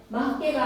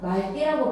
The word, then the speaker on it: 맑게: 리을기역 뒤에 기역으로 시작하는 어미가 오면 막개가 아니라 말개라고 발음하셔야 돼요.